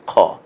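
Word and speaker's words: خاء: হয়েছে উপরে একটা নুক্তা দিলে হরফের নাম হবে খ আরেকবার বলুন খ সুন্দর করে বলুন সবাই বলুন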